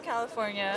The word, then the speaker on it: California: カリフォルニアから来ましたって言ってます。このカリフォルニアの発音。ちょっとね、要注意ですね。前回ね、シアトルから来たカップルね、歌舞伎町でインタビューしたカップルのね、このシアトルの発音もね、ネイティブの発音って結構私たちが思ってるのと違うよっていうのがあったと思うんですけど、カリフォルニアも日本語だとカリフォルニアってペタペタっとしてるんですが、英語はカリフォルニアですね。for のところで上がる感じなんです。カリフォルニア。ダダダンダンって感じです。で、最初の CA、これは猫の cat と同じ音なので、かではなくて、ca が近いです。ca、California ですね。 From California.